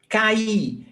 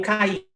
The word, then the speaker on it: caí: Caí, eu caí. I fell down. I fell down on the floor. Eu caí. A, I. It's not, there is the accent because it's stressed. Caí.